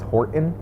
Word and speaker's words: Horton: seussical and i was horton and everyone was like there's a t in that word and i was like i'm saying it yeah horton horton and they're like you're